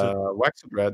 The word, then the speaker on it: Waxadred: So he has Vaxadred, the Drippy? Vaxadred? Is that how you pronounce it? All right, so it's Waxadred, yeah, that's how I would pronounce it.